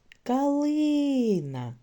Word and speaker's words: калина: цьому слові наголошений склад гукайте калина в слові калина наголос падає на другий склад А тепер дізнаємось якою